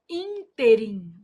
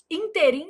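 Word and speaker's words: ínterim: A palavra interim apresenta erro de prosódia quando pronunciada como oxítona. O povo vai lá e fala assim: Ah, nesse interim, inteirim, gente, é moço de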